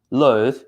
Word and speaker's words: loathe: On the other hand, B, loathe, is a verb.